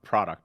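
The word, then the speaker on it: produit: this is in French it's not product it's produ Canada yeah no no pronouncing of the T no Canada some of the some of the letters in France like to hide and pretend they're not there yeah I'm just watching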